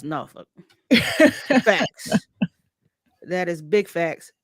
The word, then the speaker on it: Norfolk: But Philo says I went to Maury High School in Norfolk, Virginia.